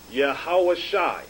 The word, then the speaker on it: Yahawashai: You have the Yah, Ha, Wa, Sha, and the I sound here, pronounced Yahawashai.